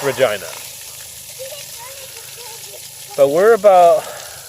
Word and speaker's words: Regina: Regina is definitely how it's pronounced. I looked it up, confirmed and reconfirmed. It's Regina.